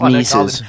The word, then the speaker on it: Mises: Mrs. Yeah. Mrs. Not everybody wants to pronounce his name correctly. Some Mrs. Mises.